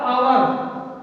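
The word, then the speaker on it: hour: अगला होता है आवर, इसे हावर नहीं पढ़ते हैं, पढ़ते हैं आवर, तो क्या होगा, ऐन लगेगा, क्या लगेगा, ऐन लगेगा।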